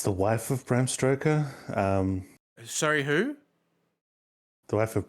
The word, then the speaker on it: Bram Stoker: Because I think it's the wife of Bram Stoker. Sorry, who? The wife of Bram Stoker. Say that again. One Actually, more time. I'm not the only person that makes that mistake. It's Bram Stoker.